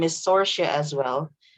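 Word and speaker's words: Saoirse: star her name is sorcia as well so it's spelled s-a-o-i-r-s-e sorcia sora should caliban okay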